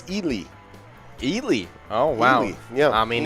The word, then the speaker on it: Ely: mean you you know i gotta go with eli that is not that is not the common mispronunciation most people say ellie uh when they say yeah ellie yeah but